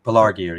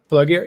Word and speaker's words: Pelargir: Pelargir, yeah. Pelargir, yeah.